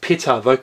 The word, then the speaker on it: Ptah: If you look at PTAH, they say it's pronounced PTAH, probably vocalized as PTAH.